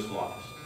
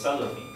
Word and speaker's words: Salafi: He's like, "Are you a Slophist?" I'm like, A Slophist. And I'm like, what is that? And he just keeps, Slophist, he keeps saying it. He's mispronouncing it. So it's Salafi.